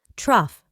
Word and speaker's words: trough: This word is pronounced as trough. Truff.